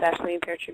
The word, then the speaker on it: Aisling Peartree: Twitter, Facebook, it's Aisleen Peartree Music on Facebook. Reverb Nation is Aisleen Peartree as well.